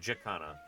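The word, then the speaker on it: jacana: of Australia's tropical north okay jakana in Australia that's pronunciation anyway okay wetlands of the tropics are very important for bird life they are a source of food.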